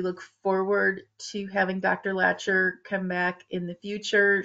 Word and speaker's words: Lacher: It's Lacher. Lacher. Thank you. Lacher. So we thank everyone for joining us today. We hope you found this information useful. And we look forward to having Dr. Lacher come back in the future.